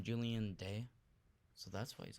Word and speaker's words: Julian: His real name, Julian Day. So that's why he's obsessed with days. His last name is Day, and his first name rhymes with July.